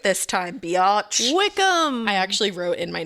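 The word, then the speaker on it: Wycombe: Wickham.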